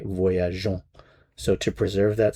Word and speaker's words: voyageons: So, in order to avoid that sound, we add in an e before we add the o n s. So, that's to preserve the je sound. So, nous voyageons.